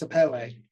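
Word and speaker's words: sapele: and flat saell saap e e and it's pronounced sapelle it's got the French e on the end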